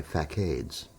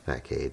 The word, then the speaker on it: facade: And fade isn't pronounced fade. It's pronounced facade. Facade. It's a French word.